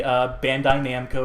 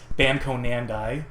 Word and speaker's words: Bandai Namco: It's like how people will inevitably at some point in life say Bandai Namco, or I said it the right way, I meant to say it as Bamco Nandai, or however people commonly mispronounce, misspell, missay that. Now, I will take issue